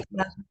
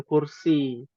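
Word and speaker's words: كرسيّ: Ada ya-nya, kursiyun, bukan kursi. Kursi itu bahasa Indonesia, Iya iya. ya. Naam. Ya. Makanya ada ayatul kursiyi, kursiyi. Alal kursiyi. Kan Oh, dia berarti bukan alal kursi gitu ya. Bukan panjang bukan, alal kursi. bukan alal kursiyi. Nah, ada ya-nya bertasydid, ya.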